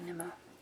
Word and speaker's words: Nimmo: It's the Charlie Bone series by Jenny Nimmo. Yes, I pronounced it right.